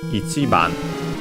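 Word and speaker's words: 一番: Okay, so Ichiban should be accented on the chi. Let's see. Literally means number one. Let's see. Ichiban.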